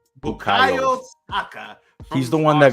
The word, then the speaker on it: Bukayo Saka: How do you pronounce his name? Bukayo Saka.